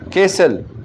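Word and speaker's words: castle: फिर है कैसल, इसमें क्या है T साइलेंट है।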